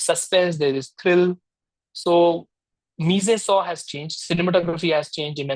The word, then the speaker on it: mise en scène: Are you asking about, see, the term which is quite famously used is called mise en scène. It's a French term.